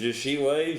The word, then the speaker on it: Jashile: Is it Jashile? Jashil? Yep. Is it a Jashile? So it's an E, but it's pronounced Jashile.